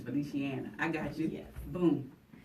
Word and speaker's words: Feliciana: I think I was calling it Feliciana, I think, but it's Feliciana.